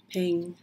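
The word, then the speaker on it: 瓶: Chinese character for vase is Ping. Has the same pronunciation as the character for peace or Ping.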